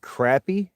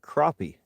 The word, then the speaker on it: crappie: Uh, what's the what's the actual pronunciation, though? Is it is it crappy or is it crappy? Technically, it says two ways to say it. You're both right. Depends on the accent.